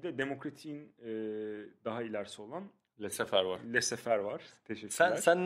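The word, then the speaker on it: laissez-faire: Lesefer miydi? Evet, Le Sefer.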